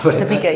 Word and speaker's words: Topeka: Is that how you pronounce it? I don't know. Topeka, yeah.